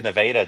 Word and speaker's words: Nevada: or in nadaa yeah we have nadaa Texas it's spelled the same